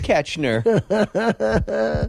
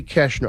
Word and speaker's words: Koechner: go back with Dave catch nur whammy right Dave whammy is it that hard Koechner it's because it's pronounced incorrectly it should be Cashner I should have changed